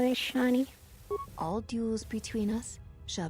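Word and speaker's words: Echani: Oh my god, I always pronounced it as Ikani. I didn't realize that it's called Ishani.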